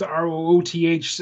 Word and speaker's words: Rooth: And my Rooth is last name is Rooth, Rooth, rhymes with tooth.